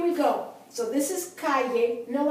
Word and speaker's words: calle: But in this instance, for example, when you have the word street, calle, the accent is on the next to the last syllable, which happens to be the first syllable because it's only two syllables.